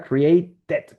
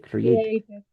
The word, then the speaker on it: created: Created porque termina en T. Ready. Created.